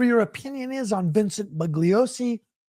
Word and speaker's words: Bugliosi: opinion is on Vincent bugliosi some people say bullos he made a big deal about that right saying the g is silent right I think we the Manson research Community must include the G it's fun to call